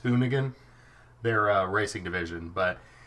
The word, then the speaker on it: Hoonigan: you pronounce it but I always think it's hooligan but it's hoonigan their uh racing division